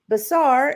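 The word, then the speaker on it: בָּשַׂר: Basar is Hebrew 1320, which is flesh of the body of humans or animals. And it is from the Hebrew 1319, which also is pronounced basar, a verb and a primitive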